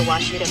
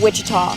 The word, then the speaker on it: Ouachita: Back in Texas, everybody pronounces it Wichita, but really, it's Washita. Washita. Washita. How would you pronounce it? Washita. It's Washita Baptist University. Get it right. It's Washita, people.